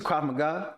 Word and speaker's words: Krav Maga: Like it's a Krav Maga. I'm saying it right now. Last time I couldn't pronounce it.